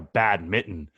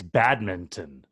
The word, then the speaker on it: badminton: you pronounce badminton well you don't pronounce it like that you're not wearing a bad mitten it's badminton there's a g in